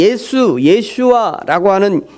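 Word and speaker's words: ישוע: 역사의 예수 라고 발음하는 이 히브리어 에 예수와 이렇게 발음 하는데요 예수와 라고 하는 발음의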